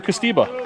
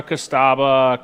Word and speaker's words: Costiba: How have we been saying it? Correctly, Drew Costiba. Okay. How do others say it? Costera, Costaba, Costuba.